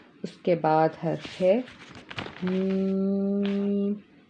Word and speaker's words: میم: کے بعد حرف ہے میم۔ میم یہ دونوں ہونٹوں کے خشک حصے سے ادا ہوتا ہے۔ میم دونوں ہونٹوں کے